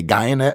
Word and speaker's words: Guyenet: for sure, Stefan Guyenet, he says pronounced like DNA. I would just say Guyenet because I'm American.